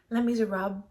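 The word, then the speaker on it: Les Misérables: People keep telling me you don't pronounce the last half of the word, so Les Miserables.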